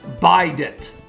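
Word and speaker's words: bident: It's pronounced by dent. It's a trident but with two instead of three.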